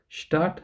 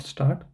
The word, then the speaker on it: Stadt: So again, so this s also you pronounce as sure. So Stadt and not start.